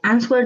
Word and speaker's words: answer: option you choose both answer the question and matches what the text says. Okay, one little thing, Francisca, in terms of pronunciation, you don't pronounce the W, so you say answer.